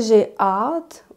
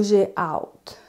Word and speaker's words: j'ai hâte: Donc, au Québec, on va prononcer « j'ai hâte » ou « j'ai hâte ». Donc, il y a des personnes qui vont faire la diphtongue « j'ai hâte, j'ai hâte ».